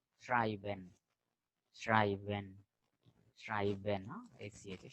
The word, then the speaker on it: schreiben: And SCH is sha. Schreiben, schreiben, schreiben, no?